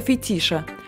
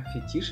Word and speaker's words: фетиш: Возможно, это даже нечто вроде сексуального фетиша. Это как в фильме «Секретарша». А фетиш или фетиш? Правильно говорить «фетиш».